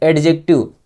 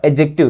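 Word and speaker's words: adjective: कुछ लोग कुछ बच्चे क्या होते हैं? इसको पढ़ते हैं एडजेक्टिव। क्या पढ़ते हैं? एडजेक्टिव। इसका प्रोनाउंसिएशन एडजेक्टिव नहीं होगा। इसका प्रोनाउंसिएशन होगा एडजेक्टिव। क्या? एडजेक्टिव। एडजेक्टिव। तो डी जो है साइलेंट होता है।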